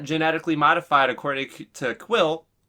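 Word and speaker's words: Kuiil: a clone he's not genetically modified according to quill it's actually nice getting the pronunciation of his name in this one quill and now we know why he's so he's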